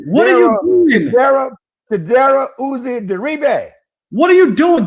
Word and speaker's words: Chidobe Awuzie: Chidobe Chidobe Awuzie Digba. What are you doing? Get your hand off this And then I had to go find my thing. Chidobe Awuzie Digba.